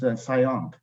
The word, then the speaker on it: CIOMP: And actually, the name is very long and it's difficult to pronounce CIOMP. So you can pronounce the name as SIOMP.